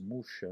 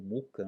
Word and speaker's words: Mucha: famoso, é o famoso Mucha, né, o Alphonse Mucha, né, ou Mucha, né, dependendo aí da pronúncia, né, aportuguesando, né, Mucha, né, mas o Mucha, ele tem um retrato, né?